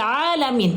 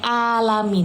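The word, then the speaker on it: العالمين: Alhamdulillahi rabbil alamin. Ingat, ada huruf 'ain' di sana. Ain. Ain. Bukan "alamin". Tidak menggunakan alif. Jika Anda membacanya terlalu cepat, Anda mungkin menggunakan alif.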